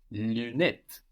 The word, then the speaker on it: lunette: And of course, the UN in lunette is not one syllable like in lundi, no? Lunette.